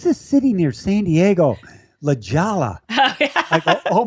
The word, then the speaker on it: La Jolla: La Jolla. Oh, yeah. I go, oh my gosh. No, that's a Mexican. It's La Jolla. What do you mean? Like with an H? Yeah, La Jolla.